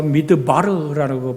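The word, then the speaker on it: מדבר: 저번 주에도 드렸습니다만 광야는 히브리 말로 미드바르라고 발음합니다.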